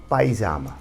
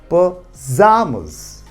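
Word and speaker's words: pajamas: और आम आदमी इसको क्या पढ़ता है पाइजामा या पाइजामाज, लेकिन सही प्रोनाउंसिएशन क्या होता है पजामस, ठीक है।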